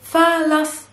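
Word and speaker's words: فلسطين: and it's palestine palestine in arabic we say fallacies let's work on the pronunciation first so it's falas and then we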